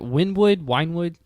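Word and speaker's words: Wynnewood: how do you pronounce that? Winewood? I want to say it's Wynwood.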